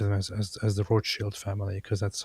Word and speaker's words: Rothschild: So, the the Rothschilds, can I just I'll just refer to them as as as the Roth Shield family because that's how it's uh pronounced and I have a very big We got to go with the authentic Sneo pronunciation.